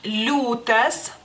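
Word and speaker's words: liūtas: esa y por ejemplo la palabra lutas lutas se escribe con la i muda es la l la ia y la u larga decimos que es una imuda sino que es como signo de suavidad porque eso es lo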